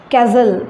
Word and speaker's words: castle: Castle, C-A-S-T-L, castle, T is silent here.